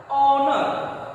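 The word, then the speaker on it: honour: तो मैं आपको बता दूं कि इसका प्रोनाउंसिएशन देखिए क्या है। ऑनर, ऑनर क्या आ रहा है?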